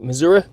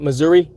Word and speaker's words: Missouri: Missouri that's how you that's how youall say it right missoui not Missouri hike mainly in the